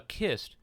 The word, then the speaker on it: cist: Often found in conjunction with cairns are Cist Graves or Cist Graves, spelled C-I-S-T. I've heard it pronounced both ways, but I'll use the hard C pronunciation in this video. A kist, which shares its same